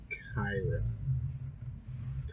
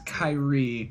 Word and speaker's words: Kairi: If it's gonna be anybody, it's gonna be Kyra. Let's pronounce Kairi. Yeah, I don't know why I said Kyra.